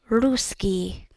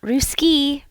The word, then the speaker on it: русский: And you know also with pronunciation it's not ruski ruski it's ruski. You have that emphasis on the u sound. Ruski and you also have the double cs.